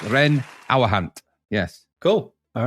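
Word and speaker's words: Reyn Ouwehand: thank you thank you is that how you say it yes Ren aant yes cool all right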